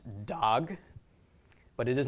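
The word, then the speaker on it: דָּג: Okay, dalet makes the sound of the letter D, comet's makes the short A sound, and gimel makes a G. So this is pronounced dog.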